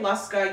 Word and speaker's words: Luska: it oh so it's it's not like a real word so you can say luska you can say luska I'm not gonna be offended because I pronounce it as luska yeah I say luska